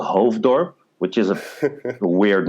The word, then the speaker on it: Hoofddorp: And it's pronounced Hoofddorp? Hoofddorp, yeah.